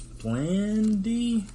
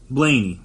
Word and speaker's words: Blaney: I forget, it was Blandy? Ryan, I believe his name's Ryan Blandy. I don't want to get his name wrong, but I believe it is Blaney, excuse me.